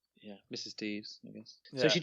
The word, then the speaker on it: Deaves: Yeah, it's Deaves. yeah, it gets misspelt and mispronounced a lot. It sounds like a way that a sort of a modern young person would say devious in kind of their language.